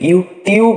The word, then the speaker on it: YouTube: আমরা সাধারণত ইউটিউবকে ইউটিউব বলে থাকি। ইউটিউব আসলে ইউটিউব না। ব্রিটিশরা এখানে উচ্চারণ করে ইউটিউব। ইউটিউব টিউকে CHU চু চু উচ্চারণ করে চু। যেমন ফার্নিচার, পিকচার, ফিউচার।